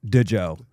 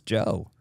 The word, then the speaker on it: Djo: go, I think it's Joe. She goes, but it's spelled Da Joe, and I go, I think it's Joe though.